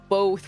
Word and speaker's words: both: not as bad as people that are pronounced both with an l okay funny story about that i was one of those people and i never thought about it because i just heard other people pronounce it that way and i never thought about the fact that both does not have an l one time i was